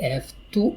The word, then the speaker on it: have to: I have to work. I have to work. Listen to the pronunciation. Have to. It's a f sound.